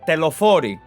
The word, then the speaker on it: Telophoroi: So I will pronounce it in the Greek way. It is the Telophori, okay?